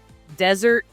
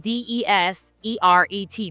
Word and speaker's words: Deseret: What was the Desert. It's spelled wrong. Desert? No, it's spelled D-E-S-E-R-E-T. Deseret News. Oh. Instead of desert.